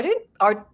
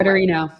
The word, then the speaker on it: Ardoino: allegedly made to Lutnick by his friend Paolo Ardoino. I never say his name. Ardoino.